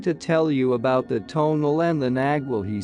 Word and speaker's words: tonal: I knew that the tonal, pronounced tonal, was thought to be a kind of guardian